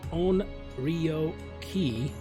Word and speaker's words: Onryoki: key then bloody bastard pronounced as own REO ki a huge read only